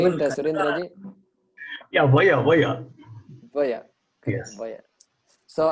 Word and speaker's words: वय: Yeah, vaya.